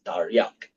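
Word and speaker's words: תרי״ג: r y and gim okay and when you pronounce that in Hebrew is Tarak all right yeah and when you add the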